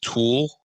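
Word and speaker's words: tulle: and I was getting toll fabric t l but it can also be pronounced tul the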